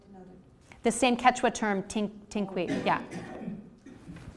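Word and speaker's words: tinkuy: And in Quechua, it's called a tinkui. You spell this in Quechua, it's spelled T-I-N-K-U-Y, a highly charged sacred space.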